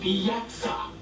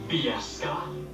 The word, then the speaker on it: Bieksa: I pronounce it Bieksa, not Bieska.